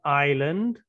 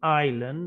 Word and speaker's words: island: And we have island, although it's spelt with an S, we say island and not Island.